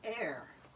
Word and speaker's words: Ehr: Yes, this is Air. Spell that, would you? Air is spelled E-H-R, but phonetically, obviously, it's like air that they breathe.